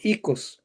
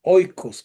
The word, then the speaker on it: oikos: El ikos, oikos, como se escribe.